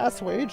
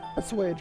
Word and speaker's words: assuage: Was it assuage? Hang on. I think I just pronounced that wrong. Yeah, assuage. I did pronounce that wrong. Assuage, my bad.